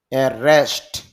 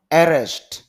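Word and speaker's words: arrest: তাহলে এইটা উচ্চারণ হলো অ্যারেস্ট, আর এটা উচ্চারণ হলো অ্যারেস্ট, মানে শুরুতেই ধাক্কা, আর এটা হলো দ্বিতীয় সিলেবলে ধাক্কা দিতে হবে।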